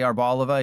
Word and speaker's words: Arboliva: Sort of like how Beedrill is paired with Arboliva, which is the correct way to say Arboliva even though I hate it.